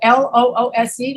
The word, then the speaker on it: loose: we have it loose here the double l l o o s e look l o o s e is loose